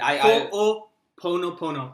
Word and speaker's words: Ho'oponopono: So I'll pronounce Yeah, this. please. Ho'oponopono.